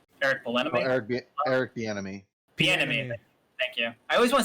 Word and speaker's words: Bieniemy: Bieniemy.